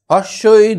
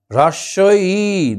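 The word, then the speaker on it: হ্রস্ব ই: হর্ষই দীর্ঘই, হ্রস্বই দীর্ঘই। উচ্চারণটা দেখো, হ্রস্বই দীর্ঘই। আমরা তো আগেই উচ্চারণ করি হর্ষই দীর্ঘই, তো এটাকে একটু ভালো করে উচ্চারণ করলে হ্রস্বই দীর্ঘই, বসে খায় ক্ষীর খই।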